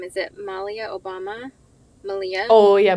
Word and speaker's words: Malia: Is it Malia Obama? Malia? Oh, yeah, Malia.